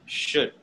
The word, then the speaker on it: should: the word should okay should should actually sounds like the word good good should okay not true don't say sure don't don't pronounce the l it's a silent l right good should all